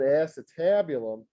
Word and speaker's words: acetabulum: is called the acetabulum here's the spelling of it a c e ace and then tab t a b and then u l u n they pronounce that acetabulum that is the socket